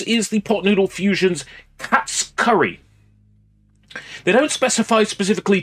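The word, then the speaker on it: Katsu: Yes, it is pronounced cats. They don't pronounce the U in Japanese, they pronounce cats.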